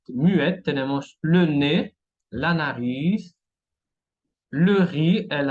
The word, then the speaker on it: nez: Ahora la Z muette tenemos le nez, la nariz, le riz, el arroz y que quiere decir en casa de.